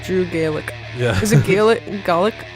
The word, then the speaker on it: Gulak: Is it Gulak? How do you pronounce? Gulak. I went on his Twitter and it says it's pronounced like attack.